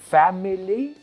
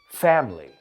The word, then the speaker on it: family: Y fijaos, did I say family? Or did I say family? Es dos sílabas, nos comemos la del medio en inglés.